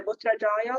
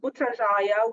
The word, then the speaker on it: Putrajaya: Now they are connecting the Putrajaya, which we can call it the governmental capital, because actually capital of Malaysia is Kuala Lumpur, but they have a state called Putrajaya where all the government offices are over there,